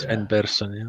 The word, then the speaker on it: Sven Persson: Sven Persson, yes.